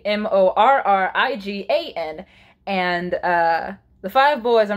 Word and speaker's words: Morgan: can't stop it though Morgan is her name is spelled the MOR gan but she's actually mor RI gan and the five boys